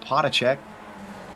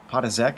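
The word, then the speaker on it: Potaczek: Vincent Brame still trying to hold off Potacek. Potazek, excuse me. Have a fellow Pole to help me with my pronunciations this week.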